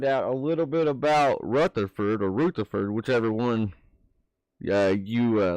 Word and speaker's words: Rutherford: Technically, it's pronounced Rutherford.